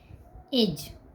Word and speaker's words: edge: किसी भी वर्ड में यदि G से पहले D आएगा तो वह साइलेंट होगा। साइलेंट लेटर उसे पढ़ा जाएगा, उसे पढ़ा नहीं जाएगा, उसे साइलेंट लेटर कहेंगे। अगर कहीं भी आपको G से पहले D मिले तो समझ जाना D साइलेंट है।